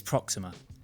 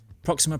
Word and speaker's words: Proxima: Before I start, I don't know why, but last time I was pronouncing it Proxima. It's Proxima. Proxima.